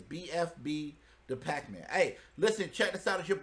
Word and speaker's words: BFB Da Packman: make sure i say it right right it's bfb the pac-man hey listen check this out it's your boy